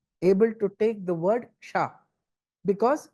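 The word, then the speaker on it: क्ष: says, but any letter, any word which starts with the word ksha, ksha, kshatriya, that ksha, right? Before you pronounce that word, you have to give a small pause. It should not be a stop. It should be a pause. And then you should say it, because you have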